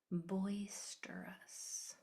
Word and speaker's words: boisterous: Boisterous. Pay attention to that in the middle. It's going to be spelled e r. Boister because it's its own syllable. So you need that eer.